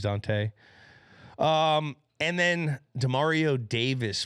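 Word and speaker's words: Dont'a: mad at me when I call him dant but his name is Dante um and then Demario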